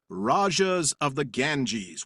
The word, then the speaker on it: Rajas of the Ganges: And that would be Rajas of the Ganges, which I just now pronounced right, maybe for the first time ever.